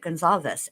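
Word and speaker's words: Goncalves: For me, I want to pronounce it gonalves, but that's that's not they pronounce it Gonzalez.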